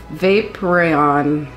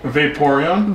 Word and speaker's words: Vaporeon: water eeve uh VAP vapon VAP vapon vapon VAP vapon vapon Von you're pronouncing it weird but I will give it to you okay I Vaporeon Vaporeon okay what do you think